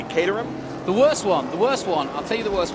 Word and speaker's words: Caterham: for my whole life Caterham I've been saying Cam and you say catam the worst one the